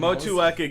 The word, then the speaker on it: Motueka: Motueka is the pronunciation.